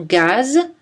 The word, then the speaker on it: gaz: En général, la lettre Z ne se prononce pas en position finale. Né, ri, rez-de-chaussée. Des exceptions notables sont gaz, L'Alpe d'Huez, Suez.